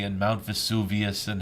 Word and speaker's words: Vesuvius: It is Mount Vesuvius.